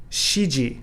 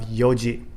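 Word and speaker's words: 四時: example as i mentioned instead of shidan we have yondan instead of shikai for four times we have yong kai instead of sichido for seven times we have nanado instead of shiji for four o'clock we have yoji so we see the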